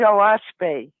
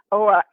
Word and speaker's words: Oahspe: It's spelled Oahspe, and it's actually 3 syllables, which stands for earth, sky, and spirit. O is sky, is earth. That's an Algonquin word. Sure. And spe is spirit.